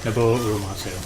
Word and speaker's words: Nobuo Uematsu: mispronouncing his name, I'm sure, but Nobuo Uematsu? Nobuo Uematsu.